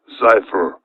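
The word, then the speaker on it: Zyphr: one of them and project cypher i will spell that one z-y-p-h-r project pogo and project xifer are the two projects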